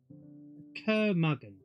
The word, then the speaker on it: curmudgeon: Curmudgeon. Rhymes with bludgeon.